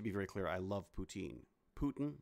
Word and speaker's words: poutine: very clear i love poutine putin not a fan but poutine that's how the people in quebec pronounce they pronounce it putin they say poutine like